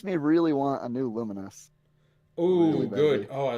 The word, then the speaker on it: Lumines: out loud before, so I've always read it as Luminines. Is it Lumens? I didn't know how to pronounce it either. No, it's Luminous.